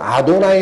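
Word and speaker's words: אֲדֹנָי: 라고 있음 이나 아도나이 그래서 이걸 울 때는 그냥 아도나이 라고 읽어요 근데 아드 바이 라르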